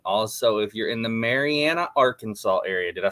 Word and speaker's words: Marianna: Also, if you're in the Marianna, Arkansas area, did I say it right this time? Yes, sir. Marianna, Arkansas.